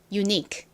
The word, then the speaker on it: unique: 이 Q, U, E가 이렇게 끝에 오면 어떻게 읽어주시면 되냐면 그냥 K의 소리처럼 이렇게 읽어주시면 돼요. Q, U, E는 덩어리로 소리 난다. 이렇게 머리에 입력해 주시면 됩니다.